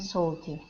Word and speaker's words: salty: sweet and sour and salty okay now on salty it's going to be more of an ah sound instead of so salty saw Saul salty I'm good that was